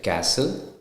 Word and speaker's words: castle: now with the T the letter T is not pronounced in the following common English words like Castle Christmas fasten listen often then it when it